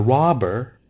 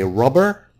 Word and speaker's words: robber: Don't say rubber. This is rubber. It's a different word, different meaning, different pronunciation. This is rubber, and this man is a robber.